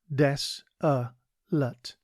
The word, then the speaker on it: desolate: Today's word is desolate. It is pronounced des-a-lut and is spelt D-E-S-O-L-A-T-E.